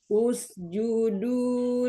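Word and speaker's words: اسجدوا: Ini bacanya U. Kalau udah kayak gini, ini hamzah wasol. Huruf ketiganya U ya, kita U juga. Oke, ya. Usjudu li Adama fasajadu illa iblisa aba.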